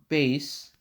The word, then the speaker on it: Bass: or bass bass yeah bait bass is how you say it the spelling always tits me off i always think it's fast but no no it's bass definitely because music reference rock